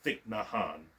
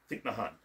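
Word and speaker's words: Thich Nhat Hanh: Meatloaf's family uh uh deep not Han uh a Zen Buddhist monk I probably butchered his name badly yeah thick nahan thick nahan thik nahan got it Vietnamese names are hard yeah and Buddhist condolences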